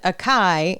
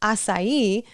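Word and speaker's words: açaí: So like my example, if I learned aai instead of asai, I need to as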